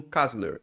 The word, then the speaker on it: KASLR: flow ou até mesmo um cazler. Eu acho que é assim que se pronuncia, é K A S L R.